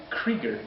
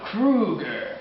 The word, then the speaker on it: Krueger: Oh, you mean Freddy Krieger? No, Krueger. You mean Krieger? Krueger. How do you say Krieger. that in Spanish? Krueger. It's Krueger.